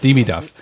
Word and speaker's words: Demidov: Demidov.